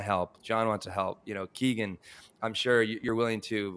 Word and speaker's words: Kegan: So most people pronounce the name Kegan, but the traditional Irish pronunciation of the name is Kegan.